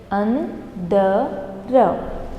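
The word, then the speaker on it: अंदर: Andara. Andar is inside. You should be very careful while pronouncing antar and andar. This is ta and this is the.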